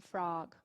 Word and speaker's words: frog: Então, só seria assim, frog, bog, Então, é entre o O e o A, né? Não é o A e não é o ou O, é A. Seria uma coisa assim. Então, frog, bog. Essas seriam as pronúncias ideais.